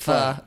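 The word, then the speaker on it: phở: I like the way you say it, pho. So I think that's the correct pronunciation.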